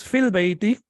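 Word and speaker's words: في البيت: When you recite it or when you read it alone, it is fi. But when you connect it with al, then ya is not pronounced. It becomes fil bayti, as you can see over here.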